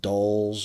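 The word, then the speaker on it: Dalles: I think they said it's pronounced Dolls or something like that.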